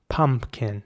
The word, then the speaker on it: pumpkin: And here it's very important to pronounce the U at the beginning like an R, pumpkin. Not pumpkin or pumpkin or something, but pumpkin.